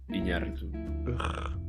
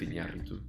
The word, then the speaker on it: Iñárritu: Say the name of that director as it should be pronounced. Iñárritu. Alejandro González Iñárritu.